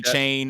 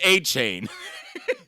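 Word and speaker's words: Achane: it's aan or a don't call me chain or Kane it's not it's aan a I'll call him whatever you want I'll call him whatever I want to hey until my brain figures out how to say it correctly I'm just gonna call him aan it's Devin a chain not Devon aan aain how's it going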